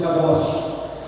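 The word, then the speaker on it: Kadosh: vé CAD ou cados vamos pronunci kadoch significa o senhor que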